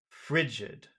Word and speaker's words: frigid: yes yesid Frid fre for two reasons that vowel sound must be longer one because of the J sound that automatically will make it yeah but also it's the accented syllable yeah frigid frigid frigid Frid can